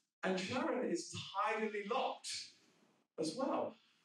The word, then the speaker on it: Charon: I call it Charon, by the way, not Sharon.